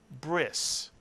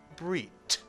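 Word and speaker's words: ברית: bris which means Covenant because the word ends in a tough without a dages and in ashkenazic Hebrew a tough without a dages is pronounced as an S sound whereas in spartic Hebrew the ceremony is called a breit because in sapharic Hebrew the tough without a dges is also pronounced as a TT is either pronunciation wrong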